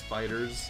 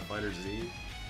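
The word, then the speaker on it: FighterZ: Oh, and the creators did come out saying that the pronunciation is Fighters, not Fighters Z.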